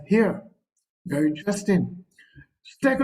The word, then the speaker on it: hir: It's spelled as SIE, but it is pronounced as C, and HIR, which is pronounced as here.